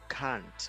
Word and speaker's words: can't: Please make sure that you pronounce the T. You can't, right?